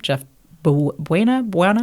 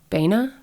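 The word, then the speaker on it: Jeff Baena: mispronouncing this, but I don't know how to pronounce his name. Jeff Buena? How do you spell it? It's Baena. Baena?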